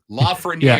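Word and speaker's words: Lafrenière: another one from Alexis Lafreniere. There's another one you can work on. Great one. Lafreniere. Yeah, I was just helping. He's French.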